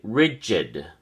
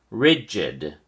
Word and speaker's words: rigid: at your flash card rigid has two syllables and the emphasis or stress is on the first syllable Ri so we say rigid go ahead and try pronounce it rigid are you pronouncing the